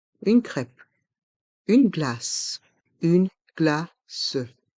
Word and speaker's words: glace: crêpe une glace une glace le son ce à la fin du mot glace reste en suspens glace une glace une